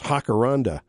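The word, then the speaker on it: jacaranda: of course he says down in Mexico the J is pronounced like an H. So it's hakaranda, I guess.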